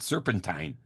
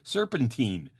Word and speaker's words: serpentine: But on the Serpentine scene, too, I love it because Vince pronounces it serpentine, like turpentine, when it's really serpentine.